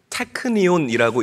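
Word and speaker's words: τεκνίον: 자, 여기에 나오는 자녀라는이 단어는 헬라어로 태니온이라고 읽고 발음을 합니다.이 말의 뜻은 이제 막가 태어난 갓난아이라는 뜻을 가지고 있는 거예요.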